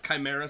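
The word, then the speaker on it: Kimera: chaos CH it's yeah it's Chimera spelled with a K chimeras are kind of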